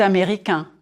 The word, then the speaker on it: américain: If you are a man, je suis américain, américain. 4 syllables. Américain. Drop your jaw on the final nasal sound.